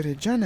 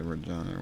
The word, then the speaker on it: Reggiane: It's got two G's, by the way. It's Reggiane. Actually, it makes a lot of difference in Italian pronunciation. Now, I also say Reggiane when speaking English, because it makes you do that. But it should be pronounced Reggiane with double G. It's a very Italian thing, I think. The double consonant.